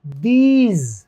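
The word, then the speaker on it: these: टी एच ई एस ई, दीज, दीज, दिस नहीं होता, दीज।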